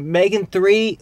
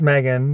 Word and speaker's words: M3GAN: done seeing Megan uh is it Megan three how you say it it's just Megan it's Megan horror film